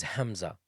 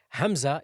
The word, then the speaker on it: hamza: a letter by itself Hamza is pronounced from the deepest part of the throat the deepest the fourest